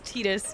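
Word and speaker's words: Tidus: too I love it Titus VA confirms its tetus in pronunciation gotcha tetus is the official officially wrong way to say it I like that that fox the officially wrong according to the devs I got you I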